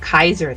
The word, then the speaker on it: Caesar: But yes, to to Chzure, hail glorious Caesar. I I heard that his name is actually supposed to be pronounced Kaiser though, but or it depends on which which